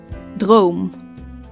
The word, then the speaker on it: droom: second okay continue book book concert concert dream Drome fantasy fantasy now the English G is an